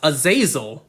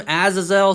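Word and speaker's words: Azazel: We also see Aazel or as I thought he was pronounced, Aazil, but the show pronounces him Aazelle. So, I guess I'll continue to pronounce him as Aazelle.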